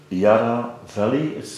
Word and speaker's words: Yarra Valley: You're all from the Yarra Valley, I pronounce it well.